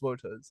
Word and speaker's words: Wotas: I didn't know they were pronounced Woters.